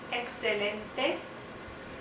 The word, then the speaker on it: excelente: X makes two sounds. Excelente, excelente, and then it can make the H sound.